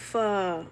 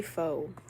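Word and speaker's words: pho: I love fur. Oh my gosh. I'm pretty sure that's how it's pronounced properly. Fur. I used to say fo when I was younger.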